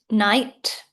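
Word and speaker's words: knight: Night. Silent K.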